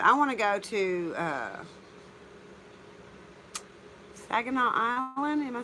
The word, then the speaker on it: Saginaw: he is but I want to go to Saginaw uh am I saying it right that is